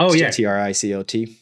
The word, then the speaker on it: Tricot: Trico. That's spelled Tricot. Yeah. It's like it's Japanese. They call trio. themselves Tricot. You could pronounce it, but it's Trico.